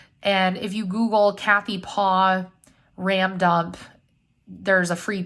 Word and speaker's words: Paauw: And if you Google Kathy Paw RAM dump, there's a free PDF that'll pop up. Her last name is spelled Paauw.